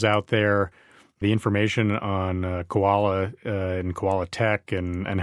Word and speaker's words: Kowala: Now, that's spelled differently from the animal. It's spelled ko wal a tech.